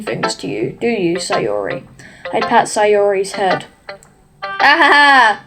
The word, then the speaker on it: Sayori: Oh my god, bro, it's Sayori. That's how you pronounce her name.